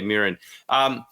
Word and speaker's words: Mirin: I said that right. I know I just got your pronunciation off cam, but did I say that right? Mirin, yes. Mirin Fader, yes. Okay, Mirin.